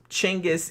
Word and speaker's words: Genghis: It's Chenis is kind of closer to the what would have been the Mongolian pronunciation, but like I said that's not his name.